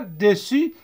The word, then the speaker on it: dessus: Au-dessus S se ne prononce pas. Dessus. D.